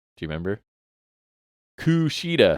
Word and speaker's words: Kushida: So after Diener and Joe Doring attack, and good old Kushida comes down to make the save, and Tom Hannafan is his name, right?